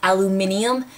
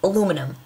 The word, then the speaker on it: aluminum: of to my knowledge, there's no like extra I in there that warrants that extra syllable. Like, to me, it's aluminum.